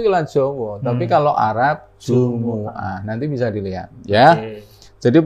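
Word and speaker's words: الجمعة: surah aljumuah saya ingatkan yang benar ini bacanya bukan jumah Jumah tapi Jumuah Jah Jumuah Iya karena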